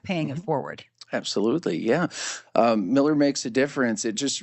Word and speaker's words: Mueller: the U came first, the U is silent and E's were pronounced more like I's. Interesting. And that's how you get why some people say Miller and others say Mueller.